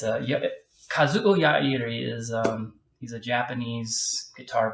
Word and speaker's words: Yairi: Acoustic guitars, and I've recently about 5 years ago, discovered Alvarez Yairi, or as most folks pronounce it, Yari. It's a dreadnought. It's Kazuo Yairi is he's a Japanese guitar builder high in